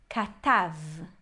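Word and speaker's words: כָּתַב: E aqui também, onde a gente tem um kamatz, é uma sílaba aberta, então com certeza a gente lê como A.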